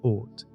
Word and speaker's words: Oort: Far beyond the planets lies the uncertain outer region known as the Oort Cloud, pronounced Oort.